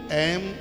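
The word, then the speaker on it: ऐं: तो इसमें ओम एंग नहीं ओम एम ह कम चामुंडाई या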